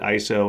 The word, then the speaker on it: ISO: to the mystery of why we call it ISO and how it's pronounced if you're interested in more pedantic trivia